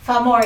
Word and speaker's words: Famori: Famori. Did I say it right? Yes, that is correct.